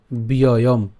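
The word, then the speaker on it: ব্যয়ম্: সর্বশেষ শব্দের মধ্যে অর্থাৎ লাইনের শেষে যদি অনুস্বার থাকে তখন সেক্ষেত্রে তার উচ্চারণটা হসন্তের মতো উচ্চারণ হবে, ঠিক আছে?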